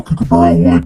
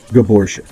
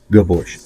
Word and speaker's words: Gabor: liner lock Damascus like to call cab but it's kabor I've been corrected and given pronunciations by other subscribers and peers in the YouTube world it is Gabor Gabor I like saying Gabor